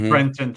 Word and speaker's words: Brenton: It's Brenton, yeah.